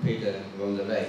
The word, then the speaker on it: Peter van der Weyck: It's a Dutch name, Peter van der Weyck. It's the Dutch pronunciation.